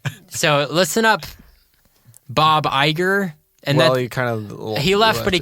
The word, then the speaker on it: Iger: So listen up, Bob Iger. Is that how you pronounce his name? Yeah, Bob Iger.